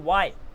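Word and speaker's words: why: silent हो रहा है वाई आप बोलते हो वाई तो वाई में एच कहां है भैया अगेन क्योंकि ए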